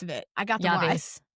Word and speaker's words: llave: La, llave? The double L is going to be a Y sound. Yep. It's a Y, yeah, but how do you say the rest of it? I got the Llaves.